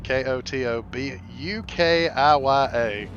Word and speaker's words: Kotobukiya: from a company called kotobukiya as far as I can tell ko TOB UK iya so I'm pronounce I'm pronouncing in what I understand to be the right pronunciation kotobukiya but these are bishoujo